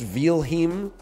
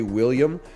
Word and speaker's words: Wilhelm: DL Guiga says it's pronounced Wilhelm in German. If you want to anglicize it, you should say William.